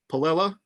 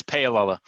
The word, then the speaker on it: Paolella: So I want to introduce Palella. I don't know if I pronounced that wrong. You didn't pronounce it right. That's Paolella.